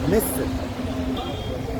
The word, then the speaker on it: مصر: Misr.